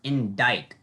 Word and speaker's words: indict: d i c t that c is silent so that's one of the silent letters that you just have to know yeah wow i did